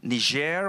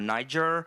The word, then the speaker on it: Niger: in Chad they appeared in ner or Niger whichever pronunciation you prefer and the African initiative